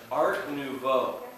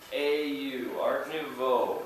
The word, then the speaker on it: Art Nouveau: Before I tell the story, The style is in French, Art Nouveau. Art Nouveau, it's spelled up on the board. It is in French, Art Nouveau. It has a lot of vowels. N-O-U-V-E-A-U, Art Nouveau.